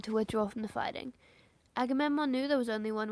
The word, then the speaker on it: Agamemnon: I'm trying to figure out if I'm saying right. I say Aimemon. Agamemon. Agamemnon. I am saying it right.